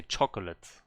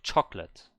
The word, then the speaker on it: chocolate: chocolate you don't say chocolate you say chocolate the o is silent or some people not